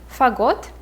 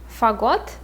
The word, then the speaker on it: Fagot: But the first name, again, we will say Fagot, Fagot, and the second name will be Koroviev, Koroviev.